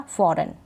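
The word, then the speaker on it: foreign: तो इन स्पेलिंग्स में जी को हम नहीं पढ़ रहे, क्योंकि नियम क्या बता रहा है कि लास्ट में जी एन हो तब हम जी को नहीं पढ़ते हैं, जी का उच्चारण नहीं होता।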